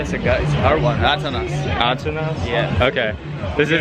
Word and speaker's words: Atanas: Atanas.